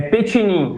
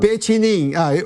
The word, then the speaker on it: Petinin: É Petinin, bem italiano mesmo. Petinin.